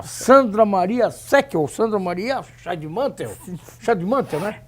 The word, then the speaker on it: Scheidemantel: Olha só, conversar com a Sandra Maria Seckel, Sandra Maria Scheidemantel. Scheidemantel, né? Pronuncia, ou é Scheidemantel? É Scheidemantel. Scheidemantel, né? Não, a acentuação é antes.